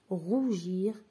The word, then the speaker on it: rougir: je répète glace gris rougir are donc ici glace et gris et augre on entend le sonang gu mais rougir on entend le sonang je donc je vais barrer